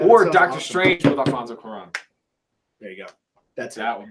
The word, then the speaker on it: Cuarón: Cuaron. R-O accent. Accent on the O. Ooh. Can you imagine Wakanda though? I could. Yeah, or Doctor Strange with Alfonso Cuarón.